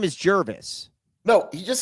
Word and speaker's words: Jervis: Jervis like nervous.